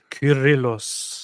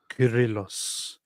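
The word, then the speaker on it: Κύριλλος: Curillos. Oh, yeah. That's a K. Curillos. Curillos.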